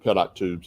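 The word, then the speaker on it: pitot: I said pito, but that's not correct." Yeah, it I pronounce it pit tubes.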